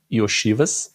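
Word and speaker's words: Iosivas: O Andrei Y oiv Esse é o jeito certo de falar o nome dele Y oiv que tava com uma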